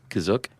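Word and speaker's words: Kashyyyk: And uh what how did you pronounce it again? Kazuk. Kazuk had not made the cut.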